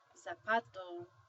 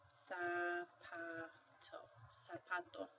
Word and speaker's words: zapato: Sounds like an S so when you see this word you don't say zapato you say sa sap when you see the Z you make the you make the sound um unless you are